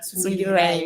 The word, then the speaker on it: Tsungirirai: So I usually like my Tsungirirai Tsungirirai pronounced as it is Okay. Linda Tsungirirai Tsungirirai.